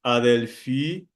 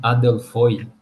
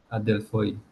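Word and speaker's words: ἀδελφοί: É Adelfoi. Adelfoi. Isso seria Adelfoi. Adelfoi. É no Erasmiano, que é aquela pronúncia mais didática, né?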